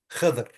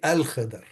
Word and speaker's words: al-Khidr: So in Arabic, we don't say Khidr. No, we have to say al-Khidr. Good.